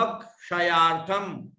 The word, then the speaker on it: क्षयार्थम: सकल यानी संपूर्ण, कर्म क्षयार्थम, ये जो क्षयार्थम लिखा है इसमें आधा क भी है और मूर्धन्य श भी है, आधा क तथा मूर्धन्य श, जो पा लिख करके बीच में से अपन करते हैं।